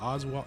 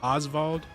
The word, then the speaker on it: Osvald: Is it Oswald? Yeah, Osvald. He just seems to have the most interesting story.